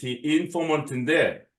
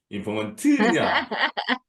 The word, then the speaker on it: informant: informant, informant인데 이게 인토네이션이 중요해요. 어디 강세가 있냐? informant냐? informant냐? informant냐? informant냐? 우리 너구리님이 지금까지 발음을 시켜보면 항상 뒤를 높이더라고.